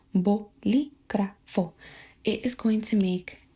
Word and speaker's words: Bolígrafo: Bo, bol, bo, bol, li. So I guess like that is better. Bo, li, gra, gra, gra. Like Ice Spice. Just sorry. Perdón. Bolígrafo. Bolígrafo.